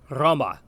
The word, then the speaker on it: Roma: Next, we come to the vowel O, which actually sounds much the way a long O does in English. As with the letter E, it might be best to begin to say the sound, but to avoid the w sound at the end that we often hear. So, the Latin word for Rome, Roma.